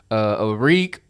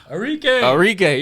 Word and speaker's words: Arike: They also have, I wish I knew how to pronounce this girl name. Arik Anguba. Arike, yeah.